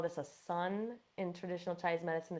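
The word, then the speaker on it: cun: we call this a sun in traditional Chinese medicine. It's actually spelled C-U-N, but pronounced sun.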